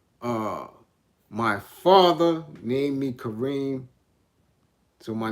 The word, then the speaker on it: Karim: claim of me and named me karem that's how they decided to pronounce it and since i was always around them that's what kind of stuck through the years that's what just stopped karim as opposed to being raised in kareem right so i'm not